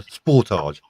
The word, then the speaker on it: Sportage: No, you say it incorrectly. It's actually a Kia Sportage.